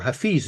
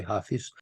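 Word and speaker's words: Hafez: happen you see that hais or hais as it should probably be pronounced but in ger the Germans always say hais what he did what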